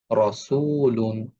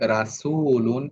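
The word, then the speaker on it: رَسُولٌ: যেমন রসুলুন, রসুলুন। আমি যদি এভাবে উচ্চারণ করি রাসূলুন, এটা ভুল উচ্চারণ। রসুলুন এভাবে আমাদের উচ্চারণ করতে হবে।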